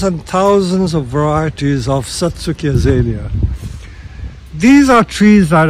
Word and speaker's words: Satsuki: is the Satsuki azalea Satsuki there are all sorts of ways of pronouncing it some people try and copy the Japanese by pronouncing it Satsuki it is spelled sa TSU ki you can pronounce it